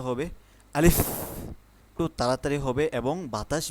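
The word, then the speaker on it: ألف: যেমন আলিফ উচ্চারণটা আমাদের যখন আমরা যখন আলিফ উচ্চারণ করি তখন মুখের থেকে বাতাস বের হবে। যেমন উচ্চারণটা হবে আলিফ খুব তাড়াতাড়ি হবে এবং বাতাস বের হবে।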